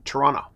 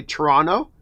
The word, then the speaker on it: Toronto: For example, when I used to live in Toronto, and you'll know a Canadian because Canadians say Toronto, Americans say Toronto.